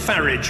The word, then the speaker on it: Farage: Vladimir Putin I'm glad he takes the the English pronunciation of ferret rather than the rather policy foreign sounding one that he seems to